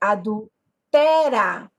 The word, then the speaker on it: adúltera: mesma maneira eu tenho uma proparoxítona a sílaba tônica é a antepenúltima oxítona última paroxítona penúltima proparoxítona quando eu tenho a antepenúltima sílaba mais forte e aquele é marcada pelo acento agudo porque a regra diz